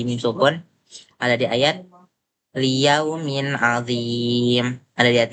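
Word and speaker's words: لِيَوْمٍ عَظِيمٍ: Mim sukun bertemu dengan ain yang hukumnya ialah izhar syafawi yang berarti dibaca dengan jelas. Jadi cara bacanya ialah liyaumin adim. Dia bacanya jelas.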